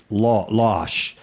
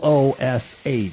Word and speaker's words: loosh: Because I've heard it pronounced losh. No, but I it's don't. Loosh. So I would say it's loosh.